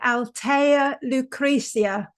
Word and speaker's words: Althea Lucrezia: Today I'm delighted to have with me Altea Lucricia.